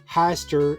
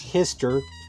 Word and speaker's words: Hyster: My brain wants to call it Hyster, like shyster, but Google says it's Hyster, like Mister.